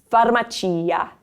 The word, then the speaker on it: farmacia: There's no PH combination in Italian. You're going to see just an F. Allora, farmacia. Farmacia.